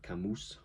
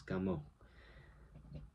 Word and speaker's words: Camus: So his last name phonetically in English is like Camus but it's French so it's Camo.